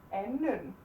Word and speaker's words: anden: Være in, and this should be anden, anden. The D is silent, no matter what.